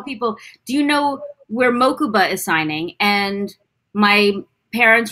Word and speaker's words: Mokuba: There was one other name you need to learn how to pronounce. Hit me. Mokuba. Mokuba.